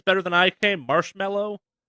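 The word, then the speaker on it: Marshmello: better than I came marshmallow it's just marshmallow yeah is it just marshmallow yeah okay just marshmallow yep okay spell word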